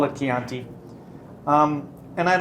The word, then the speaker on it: Chianti: Sometimes pronounced Chianti. Don't do that. Call it Chianti.